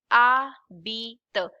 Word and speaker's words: habite: This is called H is silent. Habite.